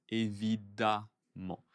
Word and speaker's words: évidemment: Allez, évidemment, attention, évidemment, attention à la prononciation, E-M-M se prononce A. Ouais, évidemment.